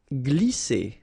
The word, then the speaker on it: glisser: Glisser. Remember, double S here, vowel, vowel, so it's really strong. S, okay? And then when you combine this G and L here, you get the sound gl, gl. Glisser.